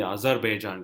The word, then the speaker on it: Azerbaijan: They've included a Grand Prix called the Azerbaijan Grand Prix. Correct. That is the right pronunciation, Kunal.